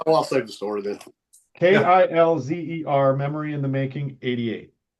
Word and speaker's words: Kilzer: Yeah, Kilzer. Hang on a second. I'll show you what it looks like. Yeah, spell it again.